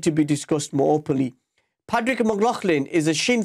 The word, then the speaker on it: Pádraig: Pádraig, did I pronounce that correctly? Is it Pádraig?